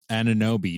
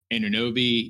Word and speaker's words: Anunoby: Have I been saying his name wrong? Anunoby.